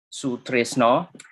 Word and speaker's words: Sutrisno: used my mnemonic name if you say stress no stress no stress no and stop at no then that's my name it's easy to